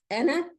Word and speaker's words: أَنَا: And this we see a lot of ana. So I don't say فَقَالَ أَنَا رَبُّكُمُ الْأَعْلَى. No, it's أَنَا رَبُّكُمُ الْأَعْلَى. It's not أَنَا رَبُّكُمُ الْأَعْلَى. Okay? You drop the alif.